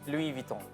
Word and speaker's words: Louis Vuitton: So this Louis is Vuitton. actually the example of not pronouncing the the last consonant.